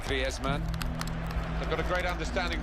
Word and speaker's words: Griezmann: So he talks to his dog in Spanish and dreams in Spanish, so I think we can pronounce his name the Spanish way, Griezmann.